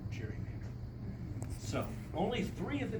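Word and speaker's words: gerrymander: a very crazy fashion it was originally Gary Mander and at some point I don't know when that g became a soft G and that's where we get the term Cherry Mander so only three of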